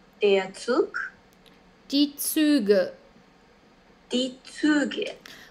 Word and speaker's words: Züge: Die Züge.